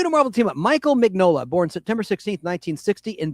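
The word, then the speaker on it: Mignola: Mike Manola, the G might be silent. His last name is spelled like filet minan. Uh m i g n o l a. Mike Magnolola. I'll just say Magnola and Mola. I think it's Magnola.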